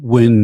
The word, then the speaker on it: Nguyen: It's a Vietnamese name. Nguyen. Win is Win. Yeah, the N is silent in Asian.